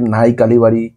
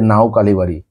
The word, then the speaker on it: নাও কালিবাড়ি: যে এই জায়গার মানুষ কেউ বলে নাই কালিবাড়ি কেউ বলে নাও কালিবাড়ি কিন্তু এটা হলো এটাই হলো কথা যেটা বলার আছে এটার অরজিনাল উচ্চারণ হলো নাও কালিবাড়ি কেননা সেই মায়ের মন্দিরটায়